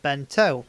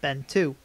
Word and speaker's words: Ben-To: combo pack version of bento or been to however you'd like to pronounce it but for the case of this unboxing video I'll stick with bento so it's start off